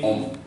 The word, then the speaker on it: hommes: So means S you will write, but you will not pronounce it. The pronunciation will remain homme.